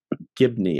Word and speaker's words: Gibney: But she did it, as well as the emotion Susan behind Gibley? It. Gibney, I believe.